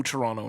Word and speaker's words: Toronto: If you pronounce Toronto with the second T, this movie is not for you.